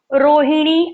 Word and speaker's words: रोहिणी: Okay, तुमचे नाव काय आहे, तो मैं उसका आंसर क्या दूंगी, माझे नाव रोहिणी आहे। माझे नाव रोहिणी आहे, रोहिणी णी। आप मेरी प्रोनाउंसिएशन की तरफ भी ध्यान दीजिए, कंसंट्रेशन आपका रहना है।